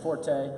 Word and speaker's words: Forte: Gino 40 won that one. That's how you say it, right? Yes. Good. Okay. I would say Forte. That's right. His name is 40. Yeah, like the number.